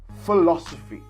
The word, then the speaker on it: philosophy: in intonation right so a change in intonation meaning that in this syllable you will please see a rise in our tone so listening very carefully philosophy philosophy so this is not a full increase right but a mere changing intonation philosophy how much better does